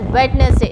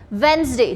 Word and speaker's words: Wednesday: We should not say it as Wednesday. It's Wednesday. D is silent in this.